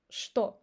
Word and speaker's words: что: The next example is when cht pronounced as st. The very popular example is что. Word что. We don't say что. We say что.